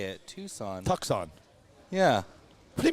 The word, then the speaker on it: Tucson: That's how you say it, Tucson. Tucson. Yeah. What do you mean that's how you say it? Tucson. No, it's Tucson.